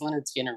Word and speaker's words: Lynyrd Skynyrd: really helps a lot so Lynyrd Skynyrd I mean how many bands have you know the pronunciation right there so there you go number 10 is Leonard Skinner from me Alabama but